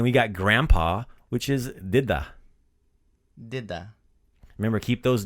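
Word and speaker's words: djed: to say Santa Claus but grandfather is died did so last episode we learned how to say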